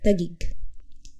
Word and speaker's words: Taguig: crossing the passig river they struggled with the pronunciation of tag gagik subsequently tagi IG was eventually shortened to its present form tag gig during the Spanish Colonial